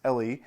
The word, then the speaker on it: Elle: an author named Alex, I believe her last name is pronounced Elle, Alex Elle.